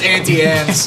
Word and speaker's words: Auntie Anne's: It rhymes. It's internal rhyme. Auntie. Auntie Anne. But it's auntie. though. It's not auntie on. Auntie Ants is completely fine. Uncultured. Don't change it. Not ant. No. Aunt.